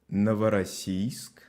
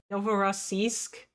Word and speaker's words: Новороссийск: Новороссийск. Новороссийск. Novorossiysk. Новороссийск. Novorossiysk. Okay. Thanks, Mr. Bombastic. Russian isn't always pronounced the same way it's spelled.